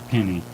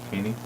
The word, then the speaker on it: Peony: My Little Penny. Yep. Oh no, dude, it's not that. It's Peony. Penne, like the pasta.